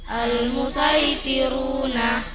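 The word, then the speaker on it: المصيطرون: Al-musaitiruna, tulisan shad, sin bacanya.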